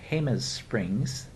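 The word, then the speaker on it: Jemez Springs: Post Office Box 307, Hus Springs. Now that doesn't sound like it, but it's spelled with a J. It's looks like Gez Springs, New Mexico 87025.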